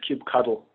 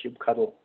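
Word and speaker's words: kubectl: that that last one that's pronounced cube cuddle very cute pronunciation cube cuddle all right container infrastructure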